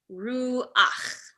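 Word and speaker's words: רוח: So the combination is pronounced as ach, not cha. So for example, this word here is koach. This word here, ruach, which are words that you might have heard before.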